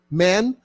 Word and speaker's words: Mann: E nós vemos aqui uma Thomas Man House e, né, eh, propositadamente Man, eh, pronunciado inclusive em inglês, já que Thomas Manu